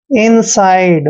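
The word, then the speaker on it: inside: से और आईडीई का उचन आइड करते हैं इनसाइड मतलब अंदर की तरफ ठीक है ना इनसाइड नेक्स्ट वर्ड देखिए एस एस का उच्चारण श करते हैं और यू को उ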